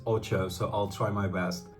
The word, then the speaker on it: Ocho: team page it says the correct pronunciation is Ocho so I'll try my